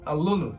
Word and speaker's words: aluno: So say aluno, like pretty much the Latin word for alumni, okay? So aluno. One more time. Aluno. Aluno de Jiu-Jitsu.